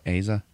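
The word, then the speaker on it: Asa: that actor uh I don't know how to pronounce his name Aza Butterfield Aza Aza yep he's the star of the movie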